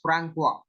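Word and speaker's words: François: It is pronounced as Francois.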